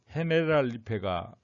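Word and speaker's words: Generalife: 근데 스페인식으로 읽으면 헤네랄 리페가 맞다는 겁니다.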